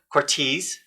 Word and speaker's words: Cortese: I'm your host, James Kelly, and today our guest is Joe Cortese.